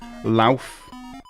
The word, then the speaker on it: Louth: Pronounce Louth.